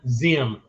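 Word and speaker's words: Diệm: butchering Vietnamese but uh way I've heard it pronounced no din Zim it's d-i-e-m but apparently some Vietnamese pronounce the d-i-e-m and I don't have all the accents on it as DM so he became the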